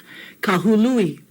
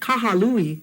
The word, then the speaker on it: Kahului: Kahului. Hu, not ha. So it's not kahalui, it's kahului.